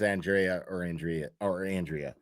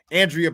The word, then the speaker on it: Andrea: But Turtle Boy, you were right about Andrea Burkhart is how you say her name, not Andrea. I got it wrong. She confirmed it on Twitter today. She just didn't correct me, but it's Andrea.